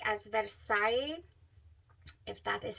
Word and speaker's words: Versailles: not as bready um or cake like as Versailles that is how you say it that one